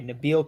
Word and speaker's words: Nabil: It's Nabil, huh? I think it's Nabil. I'm not. Yeah, and Nabil. Okay, Nabil Chrismat. That's how you say it, right?